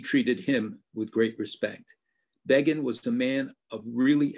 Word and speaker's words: Begin: Remember when Time magazine said Begin rhymes with Fagin?